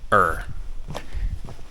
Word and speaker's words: Ur: the Ziggurat of Ur, which I keep pronouncing as Ur, even though it's spelled U-R, it's pronounced Ur. You can see all of the ruins, and then the Ziggurat of Ur, not Ur.